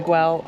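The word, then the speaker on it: Güell: I've heard people say Guell. I've heard Way. Way, I believe, is the Catalonian pronunciation, so that's what we're going to go with from now on.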